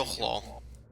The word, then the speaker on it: Yochlol: This is a Yochlol. They're Cool. known for Can their... you repeat that, please? Bless A you. Yochlol. How do you Bless you. spell that? Y-O... Okay. Phlegm. Um, Y-O-C-H-L-O-L. LOL. Yucklol. Yucklaw.